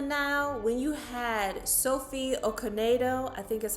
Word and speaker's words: Okonedo: For example, in Death on the Nile, when you had Sophie Okonedo, I think is how you pronounce her last name, as Salome, telling that